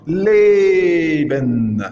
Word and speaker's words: leben: Et accentué allongé comme leben, vivre, leben. Le et, il est accentué allongé. Et il y a le et accentué bref comme Geld, l'argent, Geld.